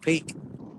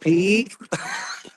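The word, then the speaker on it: Peek: If you spell it with three E or two E still pronounced peak. It's just peak.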